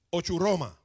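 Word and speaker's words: ὀχύρωμα: son fortalezas Busca la palabra es original se pronuncia en griego o churroma fortalezas significa esto Esto es lo que el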